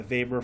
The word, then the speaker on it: Weber: a thousand Hertz and then you get your Vapor fraction I know what it's it's it looks like Weber but it's pronounced vapor and so that ratio will not